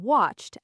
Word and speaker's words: watched: I watched a video online. The ED in watched actually sounds like a T. Listen carefully. Watched.